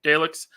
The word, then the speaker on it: Daleks: Did I pronounce that right? Okay, Daleks.